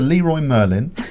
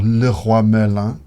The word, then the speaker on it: Leroy Merlin: And you just go down to Leroy Merlin or Le Roi Merlin, as they say in France.